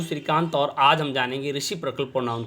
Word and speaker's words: reciprocal: रेसिप्रोकल pronoun का जो होता है, कुछ स्टूडेंट्स जो है गलत उच्चारण करते हैं, तो वो रेसिप्रोकल की जगह रेसिप्रोकल पढ़ते हैं। तो ये प्रोकल नहीं है बल्कि प्रकल है।